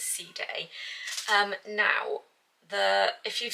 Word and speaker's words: Side: the Paloma parisia in I think you pronounce ceday it's spelled as inside but I'm pretty certain they pronounce is C day um now the if